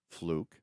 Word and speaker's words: Fluck: we are with fluke here and by the way that's spelled FL uck but it's pronounced fluke from fluke Farms Chicago